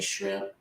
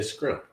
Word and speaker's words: shrimp: Some people say shrimp. Some say scrimp. Did I say shrimp right? You said shrimp right. I've never heard you say it wrong. But I know people that say screet and scrimp. And yeah, they say I got my STR messed up.